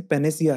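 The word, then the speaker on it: panacea: इसका सही प्रोनाउंसिएशन पेनेसिया है।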